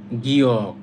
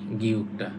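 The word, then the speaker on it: 기역: এই যে গিয়কটা যদি প্রথমে থাকে, একদম প্রথমে থাকে, তাহলে উচ্চারণ হয় খ। তাহলে উচ্চারণ হয় খ। নর্মালি এটা হচ্ছে গ।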